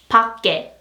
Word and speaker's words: 밖에: And next, you have to pronounce this as, yes, 값이, 값이, 값이. And this one is 밖에, 밖에, 밖에, 밖에.